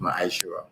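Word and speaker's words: ma'aser: It means tent in the Hebrew and is pronounced maisher.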